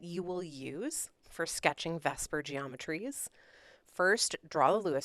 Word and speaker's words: VSEPR: electron pair repulsion theory which usually gets called vesper even though it's spelled the seeper right it's valence shell electron pair repulsion theory is just a lot to say so we're going to call it vesper you can call it